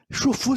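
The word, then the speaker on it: Xu Fu: Se vocês pesquisarem Chufu se escreve assim, X-U espaço F-U.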